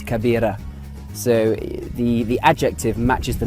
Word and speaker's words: كبير: So the word big in Arabic is this, kabir, kabir. And it's spelt kaf, ba, ya, ra, kabir, kabir.